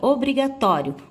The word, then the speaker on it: obrigatório: A próxima palavra, obrigatório. Pronuncie a palavra obrigatório. Você pode observar também que o tó tem a sílaba tônica, ou seja, mais forte.